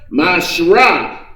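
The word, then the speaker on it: מעשר: You can find this in Numbers 18:21, Malachi 3:8 and 10 means 10th in the Hebrew, and is pronounced Mashrah.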